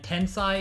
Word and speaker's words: Tensai: And Tensai is said like Sensei, so yeah.